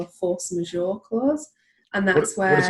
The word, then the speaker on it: force majeure: what we call a force majeure clause. And that's What is it? A what? Force majeure. Okay. It's spelled Majeure. It's French. And it means an event that occurs that's beyond your control.